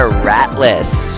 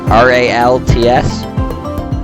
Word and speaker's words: Ralts: Fact number four, we got a Ratlas or Rattlac Panda. R A L T S Ralts. Ralts.